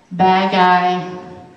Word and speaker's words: bagay: Bagay, sounds like you're saying bad guy, but you're saying bagay, thing.